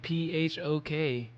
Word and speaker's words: pho: to pronounce the word pho, I stopped seeing like PHOK on signs because people are like, wait a minute, it's not folk. If you actually pronounce it like pho, it's like you're saying fuck.